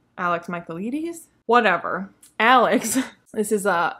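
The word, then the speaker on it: Michaelides: the maidens by alex mccabe michaelia michael leedy's michael ladies i feel like i i learned how to pronounce it after putting this on my tbr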